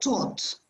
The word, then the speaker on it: taught: You pronounce it taught.